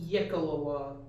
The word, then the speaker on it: YKLWA: YKLWA. Pronounced Yekalawa.